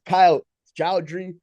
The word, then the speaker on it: Kyle Joudry: He is Kyle Joudry.